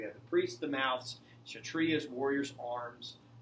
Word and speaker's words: Kshatriyas: Now, the Kshatriyas, the K is silent. Kshatriyas are the warriors of the society, right?